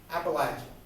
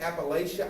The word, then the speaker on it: Appalachia: Okay, the way the saying goes is if you say Appalachia, I'm gonna throw an Appalachia. Okay, so it's the Appalachian Mountains, it's the Appalachia region, and if you say it wrong, I'm gonna hurt you.